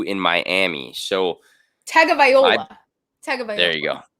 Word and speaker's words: Tagovailoa: Tagovailoa. There you go. Something. It's Taga something. Tagovailoa. Yeah. All right. So all eyes on Dolphins Tua as QB enters pressure-packed year 2 in Miami. So Tagovailoa.